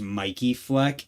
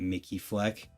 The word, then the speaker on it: Mikey Fleck: And we have I'm learning that it's possible that this is pronounced Mikey Fleck and I'm just a absolute idiot for the last 5 years calling it Mickey Fleck.